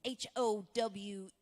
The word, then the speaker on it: Howe: spell last name h-o-w-e there there's that little secret e don't forget that silent E yeah very absolutely and